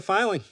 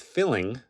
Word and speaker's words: Filing: Welcome to Filing, where we love to think and rap about our love of cinema. This is not to be confused with filling, as some have pronounced it.